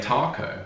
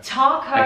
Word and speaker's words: taco: not spicy enough but americans say taco taco again another posh a sound talk i'm making tacos